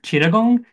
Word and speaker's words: Chittagong: the cities just so you know how to pronounce them. The main city is Dhaka. The second one is Chattogram or Chittagong.